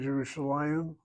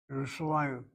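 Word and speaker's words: ירושלים: If the first letter in the noun is a yud with a shva under it, then the yud is not pronounced. So look at the word Yerushalayim and Li Yerushalayim.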